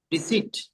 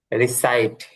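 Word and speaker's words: recite: রিসিট, নাকি এটা হবে? রিসাইট, রিসাইট। রিসাইট, তেলাওয়াত করা।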